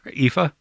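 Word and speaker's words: Aoife: there's one that's um it's spelled uh wait let me find it I'm trying to spell Sher yeah exactly it's a o i f e okay a o i f how would you pronounce that a o i f ify oh that's close yeah she they epha yeah see I I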